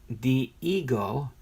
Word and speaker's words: Dihigo: maestro the Cuban born Diego pronounced the ego the ego debuted with